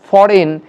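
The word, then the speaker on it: foreign: হয় সেটা কিন্তু নেই, তাহলে এখানে জি সাইলেন্ট তাই ফরেন, জি সাইলেন্ট তাই ফেন, এবং জি সাইলেন্ট রয়েছে বা নীরব রয়েছে তাই এটা উচ্চারণ হবে সাইন।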